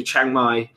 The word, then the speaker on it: Chiang Mai: If you're going to go to Chiang Mai, that's how you say it, I would start going to the networking events that Diggity hosts, definitely.